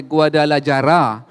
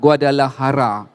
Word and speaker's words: Guadalajara: Syekh, saya sebut bila awalnya kita sebut sebagai Guadalajara, ejaan dia J, tapi sebenarnya apa dibunyikan walaupun ejaan dia J, bunyi dia H, Guadalajara.